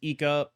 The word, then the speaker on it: Aika: For example, Aika's list, I know it's pronounced Eeka, I'm sorry.